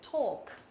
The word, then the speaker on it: talk: Talk. Nó là âm O dài, nhớ chưa? Talk. Talk. Tức là chữ A này mà kết hợp với cả chữ L đằng sau á, chữ A mà